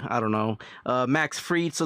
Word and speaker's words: Fried: Max Freed spelled like fried. I don't know. Uh Max Freed.